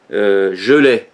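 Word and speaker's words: Geley: mais Gustave, alors G-U-S-T-A-V-E, Gelais, c'est-à-dire je, alors je, pas je l'ai, ouais, non, je l'ai pas. Ça ne s'écrit pas comme ça se prononce.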